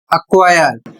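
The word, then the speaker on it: acquire: अर्थात यदि के या क्यू के पहले सी आ गया तो सी को नहीं बोलना है।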